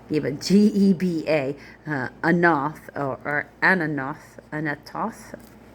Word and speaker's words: Anathoth: Geba, Geba, Anath, or Anathoth. I want to say it Toth, but it's not. So Anathoth, and Almon, like almond, but with a D on the end.